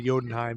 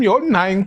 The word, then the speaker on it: Jotunheim: Well, Thor then convinces his buddies all to go to Jotunheim, even though they're not supposed to. Jotunheim, did I say that? Yeah. right? Jotunheim. Jotunheim.